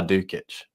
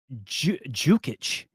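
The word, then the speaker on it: Dukić: What's his name is called Lazar Dukic. Excuse me, Craig. If you knew Lazar, you would know his name is Jukic. And he would tell people, hey, you say it like Jew Kitchen.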